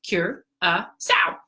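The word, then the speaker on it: Curaçao: us on Curacao so Curacao as you can see it spelled Curacao pronounced cure so and this is if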